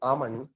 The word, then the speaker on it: almond: remember asking her madam if l is silent almond what is the use